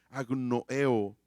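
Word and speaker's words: ἀγνοέω: Y la palabra aquí en griego ignoramos es agnoeo, con acento en la E, agnoeo.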